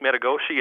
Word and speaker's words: Metigoshe: Hi, this is from Lake Metagoshi in North Dakota. Lake. Metagoshi. You got to spell that for me.